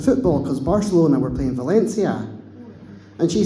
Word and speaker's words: Valencia: because Barcelona were playing Valencia. And she says, "It's Barcelona, Valencia," because in Spain you pronounce the C's as a TH.